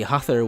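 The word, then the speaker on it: Höðr: Properly written, it's like this, again with the letter F and the short tapped R at the end, and when written in Japanese, it's Hezu. This is the name that looks most unlike how it is spelled out in English, like you wouldn't be able to assume this is the pronunciation just off rip.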